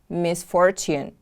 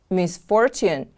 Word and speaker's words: misfortune: Next word is misfortune. Misfortune is a noun. Misfortune is something unpleasant or unlucky that happens to someone. Misfortune, misfortune. The stress is on the second syllable.